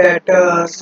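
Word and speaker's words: debtors: यहाँ पर बेटा जी बी साइलेंट होता है, जब इसको प्रोनाउंसिएशन करेंगे तो डेटर्स के नाम से करेंगे।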